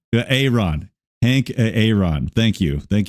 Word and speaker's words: Aaron: How do we pronounce this name here for this guy? I believe it's Aaron. Aaron.